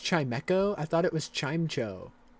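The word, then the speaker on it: Chimecho: It's pronounced chimeco.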